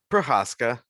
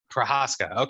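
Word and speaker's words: Procházka: but every fighter makes how do you say it prohesca prohaska prohaska yeah because i'm thinking the polish thing and he's not polish so that's that's my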